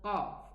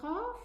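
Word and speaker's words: قاف: Now, how do we adjust the pronunciation of the qaf? Okay, because many people really have this difficulty. They are not able to differentiate between the sound of the qaf and the kaf. Now let us pronounce it with a shadda. So how do we do this? We say and stop there, stop the sound. Qa. You will feel where the makhraj is. Here, qi, qu.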